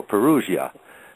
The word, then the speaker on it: Perugia: perua they don't pronoun they don't pronounce the G it's the G I knew they peria okay well I'll I'll try to remember that for our interview here so Perugia here we go now